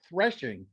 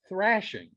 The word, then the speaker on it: threshing: thank you and and the word thrashing is actually thrashing or actually threshing not thrashing thrashing is when you